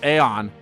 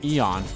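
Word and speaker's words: Aeon: how they pronounce it I always pronounce it as Aon cuz you know A and E but I guess it's Eon huh oh well eon's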